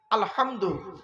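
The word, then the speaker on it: الحمد: আলহামদুলিল্লাহি রাব্বিল আলামিন মা বোনেরা শুদ্ধ করে নিন আলহামদু এ গলার ভেতর থেকে হেটা উচ্চারণ করবেন আলহামদু আলহামদু মানে হচ্ছে সমস্ত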